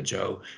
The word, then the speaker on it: Gjøa: Gjøa, which is called, generally we pronounce it the Joe in English, so Johaven is where the Joe dropped anchor for a few years.